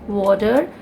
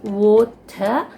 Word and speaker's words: water: The tongue is rolled and it's called as water. But in Britain or in the UK, they call this as water. Like the R is pronounced more like AH.